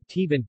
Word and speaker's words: tiban: Examples of the more visible variations of the Avasayan and Isimaranjan words and pronunciations are Tiban, to look, in Bosco is Chibon in the southern towns, Antiya, later, in Bosco is Ankiya in the southern towns.